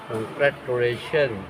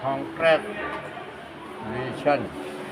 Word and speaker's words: Congratulation: แตะ เหรอ Congratulation ไม่ ใช่ ค แนช นะ เป็น conation อ่า ใช้ ลูก บูก ประดับ